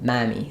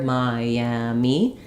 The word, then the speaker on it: Miami: that Y sound and often what I hear is if people don't have that natural vowel to vow linking it'll sound like we'll miss the middle Sy syllable it'll sound more like M mamy like it gets too reduced we don't hear all three syllables so in order to be able to hear Miami as you connect between vowels make sure that you have that Y sound there Miami um okay maybe